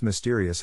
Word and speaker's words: mysterious: Phonetic Alphabet to pronounce mysterious have in mind that the size of the syllable indicates where the accent or stress is in this case the accent is in the second syllable corresponding to steer low